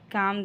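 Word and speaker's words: calm: हो जाओ you just काम down काम में एल साइलेंट है नेक्स्ट मैं उससे खुद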